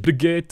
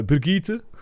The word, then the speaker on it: Brigitte: It's too awkward turning a 2-syllable name, Bridget, into a 3-syllable name of Brigitte.